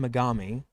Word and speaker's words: Megami: the thing i'm like that's not how you pronounce that megamaze with a u megami it's an a because gami is a like chaotic god darker god so megami tensei five